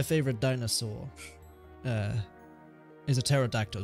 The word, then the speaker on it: pterodactyl: dinosaur uh is a pterodactyl just because of the silent PE there's no need for it it's just funny it